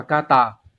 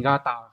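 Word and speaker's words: 型: Còn cái chữ hình này, đây là âm cư, nó sẽ đọc là kata, và thường nó sẽ biến âm thành gata khi ghép.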